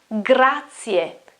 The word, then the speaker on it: grazie: new for you, but the pronunciation is grazie, grazie, grazie, grazie.